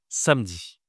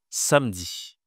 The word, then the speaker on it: samedi: Ce jour s'appelle samedi. Samedi.